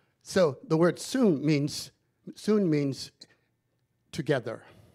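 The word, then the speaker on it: σύν: s-y-n in the greek the y has the sound of you so we will say synchronize in the greek you would say soon not sin not sin but we say it's sin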